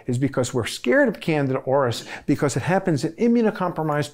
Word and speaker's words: Candida auris: Candida auris, if that sounds like the word ear, is because it was found in a Japanese ear.